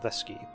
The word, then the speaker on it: ddysgu: And that U at the end is pronounced E as well, ddysgu. Don't ask why, that's just how it is in Welsh.